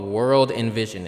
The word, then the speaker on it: WRLDINVSN: They're called World Envision, and it's not how you spell it. So it's WRLDINVSN.